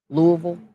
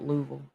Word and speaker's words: Louisville: Louisville. Louisville. My family. My family call it Louisville. What are you doing in Louisville? Like they leave out all of the syllables.